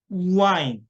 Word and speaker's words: wine: wine, wine. 그러니까 우는 입술을 동그랗게 벌린 상황에 시작을 한다. W가 나오면 입술을 동그랗게 모은 상태, 우라는 상태에서 시작을 하셔야 돼요. 안 그러면 잘 못 알아들어요.